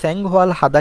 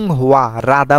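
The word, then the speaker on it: 활하다: হুয়া রাদা কেননাংহুয়াল হাদা অনেকে বলে থাকেন তো হুয়াল হাদা কেন হবে না এখানে হুয়া রাধা বলছি আমি রাদাই সঠিক হুয়ুদা হবে না কেননা রিয়ল বাচ্চামের পরে যদি হিয়ত থাকে তাহলে এই রিওলটা আমাদের হিয়তের জায়গায় চলে যাবে তখন হিয়তের কোন অস্তিত্ব থাকবে না তখন হুয়া রাধা জীবনযাপন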